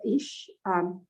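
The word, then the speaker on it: איש: How do you pronounce this? This is Ish.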